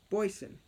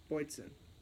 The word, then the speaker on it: Boatswain: Boysen. That's how it's pronounced. Boysen.